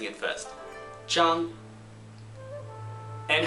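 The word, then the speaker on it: Zhang: as we said before is so J together J that's right one more time J just imagine a Miss Jang has uh hearing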